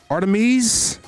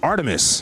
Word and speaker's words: Artemis: Artamese. What is that? Yeah, Artem. I think it was Artemis. Artemis.